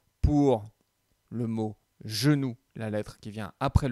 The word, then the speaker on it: genou: Alors, le mot genou va dans la colonne de gauche. Le G se prononce J.